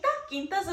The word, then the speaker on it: Quinta: So the creator of the show, and I believe it's pronounced Quinta or Quinta? Quinta's in Spanish, so it's more in English. Quinta.